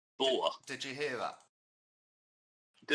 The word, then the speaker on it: Boer: I say Boer. Did you hear that? Do it again. Hang on. Boer. Did you hear that? No. Okay, it goes Boer. So B. Boer.